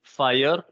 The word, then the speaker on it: FHIR: Vous avez observé aussi qu'on dit FHIR, donc comme le feu. Mais en fait, ça ne s'écrit pas Fire comme le feu, même si le logo, c'est le feu, mais ça s'écrit FHIR.